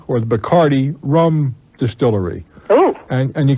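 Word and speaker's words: Bacardí: that you can go over to the properly pronounce a buck ID or the bacardi rum distillery oh and you can take it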